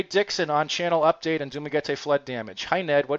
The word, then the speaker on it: Dumaguete: It's Dumaguete or Dumaguete? Dumaguete? They usually pronounce the middle, they stress the middle syllable, which is an hour or two from Surigao City.